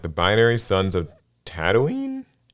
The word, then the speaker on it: Tatooine: With the launch of Star Wars Unlimited approaching the horizon like the binary suns of Tatooine? Yes, it's Tatooine. Oh, I said it right the first time.